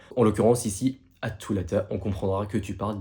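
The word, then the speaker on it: الثلاثاء: Mais généralement, même si tu as du mal à prononcer la lettre Th dans un mot, tu peux totalement prononcer la lettre T. En l'occurrence, ici, at-thulatha, on comprendra que tu parles du jour de la semaine.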